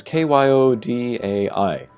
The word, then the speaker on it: Kyodai: This is kyodai. Kyo, that might be an extended sound, or it might be a short sound.